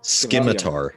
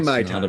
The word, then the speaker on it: scimitar: Scimitar. Scimitar. Sorry, I didn't know which mispronunciation we were using. Scimitar. All right, he's gonna use Scimitar. It's not a Skymitar.